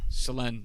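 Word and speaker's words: Selänne: Selanne. Yeah, I pronounced a lot of things wrong.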